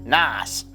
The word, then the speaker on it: NOS: Furious movies later we refer to nitrous oxide systems as NOS pronounced Nas at number eight hooker